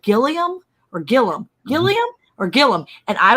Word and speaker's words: Gilliam: you said it was Gillum farms and I said okay so it's not pronounced Gilliam like it's spelled and y'all were like no it's Gillum and I was like